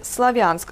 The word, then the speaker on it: Слов'янськ: Отже, загальноприйнятою і правильною назвою нашого міста на російській мові є Слов'янськ з наголосом на другому складі.